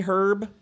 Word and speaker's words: herb: Say herb and we should say herb? Yeah. But that's not how it goes. But that's not how it is. Yeah, that is true. So, It do H, be like that. The H is silent.